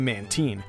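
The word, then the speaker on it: Mantine: man time man team they pronounced it man 10 and pokemon 3 but according to some people it's actually man teen let me know in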